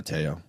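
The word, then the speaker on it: Te'o: Is it Teo or Mateo? Am I saying it wrong? Teo. Okay. It's Manti. Manti Teo.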